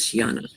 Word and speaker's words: Shiana: I had just pronounced it Sheena, but Sheena. Butchered it. I think it was Shiana.